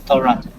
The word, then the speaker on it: restaurant: Restaurant. Yeah, so restaurant. So, how to pronounce this one? It actually should be like this one. So, restaurant. So the correct pronunciation is restaurant. Yeah, restaurant, not restaurant.